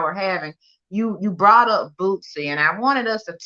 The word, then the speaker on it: Boosie: Boosie. How you say it? Boosie. Boosie. Yeah, you know, you put that little T, it sound like Bootsy.